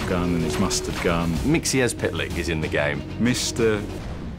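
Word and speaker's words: Mxyzptlk: with his ketchup gun and his mustard gun mixies pitlike is in the game mr mixipal tip mr mr i i can't pronounce it it's one of those tricky ones it's pronounced mixies pitlike there is so many characters that we've just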